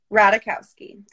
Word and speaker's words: Ratajkowski: Ratajkowski, the J is silent.